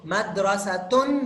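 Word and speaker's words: مدرسة: Yaitu madrasah jamilah. Jadi begini. Nah, jadi begini teman-teman. Sekarang dua kata. Madrasatun jamilah.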